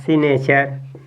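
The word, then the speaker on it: signature: बाद क्या लिखा है सी नेचर इसको आप पढ़ेंगे तो इसमें देखिए जी साइलेंट है ठीक है ना कल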